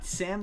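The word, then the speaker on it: Sa5m: Uh Sam the five is silent.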